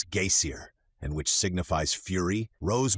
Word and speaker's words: geysir: The geyser, a word the Icelanders pronounce geysir, and which signifies fury, rose majestically from its summit.